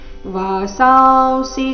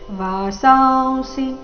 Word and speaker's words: ವಾಸಾಂಸಿ: ವಾಸಾಸಿ ಜೀರ್ಣಾನಿ ಯಥಾ ವಿಹಾಯ ನವಾನಿ ಗೃಹಣಾತಿ ನರೋಪರಾಣಿ ತಥಾ ಶರೀರಾಣಿ ವಿಹಾಯ ಜೀರ್ಣ ನ್ಯಾಯಾನಿ ಸೈಯಾತಿ ನವಾನಿ ದೇಹಿ ವಾಸಾಸಿ ಜೀರ್ಣಾನಿ ಯಥಾವಿಹ ವಾಸಾಂಸಿ ಅನುಸ್ವಾರದ ಉಚ್ಚಾರಣೆ ವ ರೀತಿ ಬರಬೇಕು ವಾಸಾಂಸಿ ಜೀರ್ಣ ಜೀರ್ಣ ಎರಡು